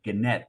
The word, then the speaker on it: Gannett: And he says Gannett, as in net.